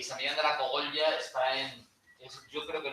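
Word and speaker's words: Cogolla: Y San Millán de la Cogollla está yo creo que la única palabra donde pronuncio la L, Cogollla, porque queda muy bien, ¿a que sí?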